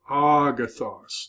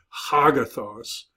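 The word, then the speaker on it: ἀγαθός: smooth reading means there's no H sound so Agatha's not Hogg Athos but Agatha and that means good it's where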